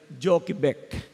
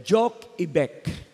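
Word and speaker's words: Jochebed: Joseph ay si ah ang tawag po diyan na ay Jokbeck. Okay? O kaya'y J Ibec. Yan po ang pronunciation niyan sa Greek word, JBEC.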